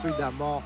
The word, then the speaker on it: prudemment: P, adverbe signifiant avec précaution, dont le premier E se prononce A, prudemment, en effet, mais c'était trop tard.